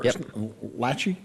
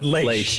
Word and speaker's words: Leish: So again, Trooper First Class Tyler Leish, or Lachey, but Leish is how he pronounces. Lachey is also, I've seen that.